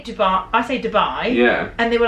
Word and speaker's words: Dubai: I say Dubai, not Dubai. Dubai, not Italians or Iraq.